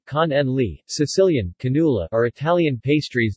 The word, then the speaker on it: Cannoli: Cannoli, Italian pronunciation, con en li, Sicilian, cannula, are Italian